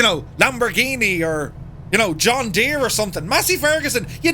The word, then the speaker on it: John Deere: John Deere or John Deere? Nothing rides like a deer.